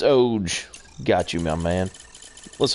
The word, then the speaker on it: OG: So do you know it's ODGE? Is that how you pronounce it?